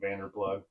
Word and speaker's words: Vanderploeg: You have to explain to people that it's not phonetically correct because they're going to type in your last name and it's not going to work. Like you don't say G in lasagna.